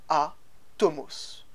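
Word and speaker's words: ἄτομος: est donc indivisible insécables que l'on prononce en grec à tomos qui donnera le terme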